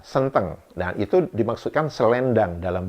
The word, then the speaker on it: senteng: Sedangkan senteng ee apa ejaannya sama s e n t e n gitu ya tapi pengucapan e-nya berbeda senteng.